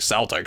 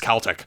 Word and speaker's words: Celtic Frost: I watched a couple four movies where they pronounce it Celtic so I thought that was how it was pronounced for the longest time but apparently it's Celtic my dumb ass after that gnarly discussion topic